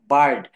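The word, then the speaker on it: bird: হুম, বার্ড অর্থাৎ এখানে বলছে আই এবং আর দুটি বর্ণ পাশাপাশি কনসোনান্ট থাকলে এখানে আই এর উচ্চারণ আই না হয়ে এ হয়ে যাবে।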